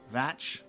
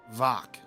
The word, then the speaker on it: Mhach: So, in Gaelic, uh mh is a v and ch as in loch, not a k sound but a throaty ch sound.